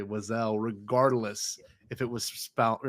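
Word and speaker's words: Wesell: bass boosted Alan Tudy saying Wessleton but just cut out the t at the end. So it's I am Wiselle Wiselle Wiselle.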